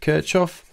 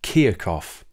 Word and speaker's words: Kirchhoff: You don't pronounce it Kirchhoff, you pronounce it Kirchhoff.